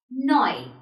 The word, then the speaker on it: neu: This is pronounced as Euro in German. Then we have Neu.